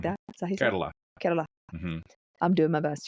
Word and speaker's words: Kerala: You know, they they nimly roll that R as as one does as a native southern Indian speaker. Kerala. Yeah. Carerala.